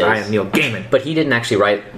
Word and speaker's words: Gaiman: I'm pretty sure it's Gaiman, but he pronounces it Gaiman. But anyway... Because I saw him on Doctor Who Confidential. He says, I am Neil Gaiman.